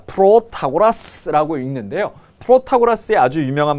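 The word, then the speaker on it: Protagoras: 자, 프로타고라스라고 읽는데요.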